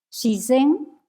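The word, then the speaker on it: shizen: Sisén naturaleza. Es la pronunciación pronunciación japonesa del chino Zirán.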